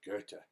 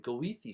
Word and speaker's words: Goethe: But that Goethe, it's written as OE because there's a very strange vowel in German. Normally it's an O with two dots over it.